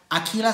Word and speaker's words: Aquila: It says, Aquila strings, or shall I say Aquila, but it is an Italian brand and it is pronounced Aquila, which means eagle, by the way.